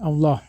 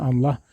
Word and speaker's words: Allah: penggunaan kata Allah disini saya membacanya Allah ya bukan Allah karena ini konteks Alkitab kata Allah ini pada ayat ini digunakan sebagai generic name atau gelar bukannya proper name atau nama diri untuk